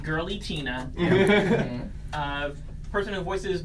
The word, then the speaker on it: Giratina: I think well first let's set it straight it's actually pronounced girly Tina person whose voice it